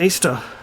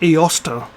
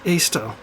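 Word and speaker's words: Eostre: e-o-s-t-e-r or r-e um it was actually pronounced easter not ioster right her name was actually pronounced easter so that doesn't even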